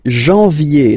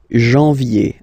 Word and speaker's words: janvier: wow, no, but anyway, janvier, so that's the way to pronounce it, janvier, A-N, en, okay, and then yé, yé, yé, janvier, then comes février, février,